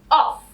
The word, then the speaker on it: off: This is off.